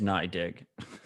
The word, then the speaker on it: NYDIG: Also, it turns out the pronunciation is NYDIG.